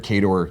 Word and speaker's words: KOTOR: But the official answer is KOTOR.